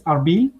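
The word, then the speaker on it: Erbil: So you see Hawler, it is Arbil, so the official pronunciation, and Hawler is the local one.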